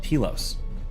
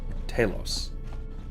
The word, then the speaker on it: telos: saying is that um telos talos pick your favorite pronunciation um the greek word